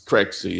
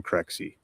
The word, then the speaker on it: Crexi: This is Crexi. It's spelled CREXI.